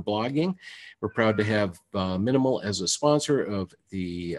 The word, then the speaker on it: MNML: can and get a copy of Minimal. That's spelled MNML.